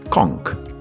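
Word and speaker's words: conch: kc salat na czele co ciekawe kcz wymawia się po bamu jako Kong dojście do Fish fry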